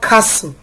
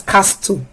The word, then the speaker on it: castle: Number 7, we have the word castle. This word is not pronounced as castle because there's an S and there's a T.